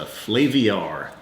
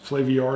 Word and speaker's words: Flaviar: Or you said it the way I said it. I think so. Flaviar, it's got an IAR in there.